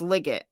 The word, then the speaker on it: Liggett: Is this Liggett or Leggett? It's Liggett, but I keep pronouncing it wrong. It's Liggett. Liggett.